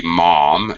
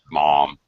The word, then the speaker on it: mom: For Americans, it would be mom, and it would definitely have the ah sound of the O. Mom.